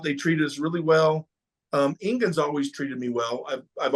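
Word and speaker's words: Engin: some faulty calls there, and I heard that Egan, how do you say his name again? Ingen.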